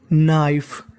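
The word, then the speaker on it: knife: बन गई ब्लैक काली नाइफ देखिए अगर कभी भी आपको एन से पहले अगर के लिखा मिल जाए तो हमें के का उच्चारण नहीं करना होता तो मीनिंग बन गई नाइफ।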